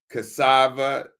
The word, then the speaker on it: cassava: But Ugali, maize, correct the pronunciation. M-A-I-Z-E, maize, cassava, C-A-S-S-A-V-A, cassava, Mhm.